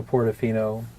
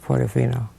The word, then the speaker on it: Portofino: Port, and then a big O with a dash in between, and Fino.